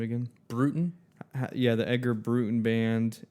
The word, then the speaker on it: Broughton: by by the Edgar uh how do you pronounce the last name again? Brutin.